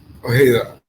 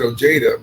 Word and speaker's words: Ojeda: ogeda eddie ojeda okay it's really pronounced oh hey the beta in spanish it's cereal in a spanish-speaking country no problem but in america you know ever since i was in high school and people always said oh jada because they saw the